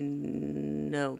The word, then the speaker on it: know: Needed to know. K-N-O-W. That K is silent.